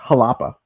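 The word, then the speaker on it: Xalapa: And it's I think it's pronounced halapa. Oh, okay. So like that X is pronounced like an H.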